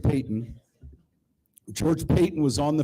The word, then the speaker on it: Payton: It's spelled like Patton, but George Payton.